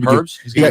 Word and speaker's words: herbs: Herbs? What's the herbs? I don't think you pronounced the H, by the way. Herbs? No, you do. No, that's the right way.